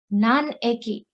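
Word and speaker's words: 何駅: here here tokyo so it's not nani aki okay it is none a key because we are using it as a counter how many station more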